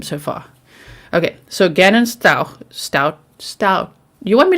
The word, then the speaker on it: Stauch: okay here we go style pronounced like ouch not r sound i don't think i